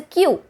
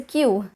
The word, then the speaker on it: queue: have this word and i know the spelling looks horrific i mean how are you going to pronounce this but it is actually very simple it's q it's the long line